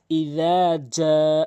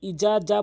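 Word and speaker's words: إذا: ইজা অধিকাংশ ইজা বলে। ইজা। মানে এই জালকেও জিম বলে এবং জিম তো এখানে রয়েছেই। তো ইজা বললে হবে না। বলতে হবে ইজ। জিহ্বার আগা দাঁতের আগা থেকে উচ্চারণ করতে হবে।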